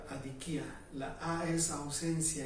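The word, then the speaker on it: ἀδικία: La injusticia en el idioma original se pronuncia adikia.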